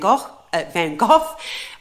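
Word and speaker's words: Van Gogh: Vincent Van Go's um and I say van go it is actually van go um but there is confusion on how to pronounce that so I apologize I I've I've given you the the English version which is van vanov I normally say vanok or van go it is I think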